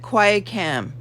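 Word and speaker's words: qui tam: hearing what i'm doing here how do you spell that quietcam q-u-i-t-a-n two separate words q-u-i t-a-m action okay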